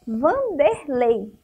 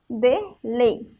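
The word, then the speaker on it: Wanderlei: Mas já Vanderlei é com W também, mas a pronúncia, o som da palavra é com V, ó. Vanderlei.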